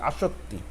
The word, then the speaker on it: আসত্তি: যেমন প্রথমে আছে আসত্তি, উচ্চারণটা হবে আ স্বরে আ, শয়করে শো, তয় হসন্ত, মানে তয়ের উচ্চারণ উজ্জ্ব থাকবে, তয় শিক্ষার্থী আসত্তি।